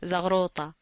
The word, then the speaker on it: Zaghruta: The Egyptian word is generally pronounced Zaghruta.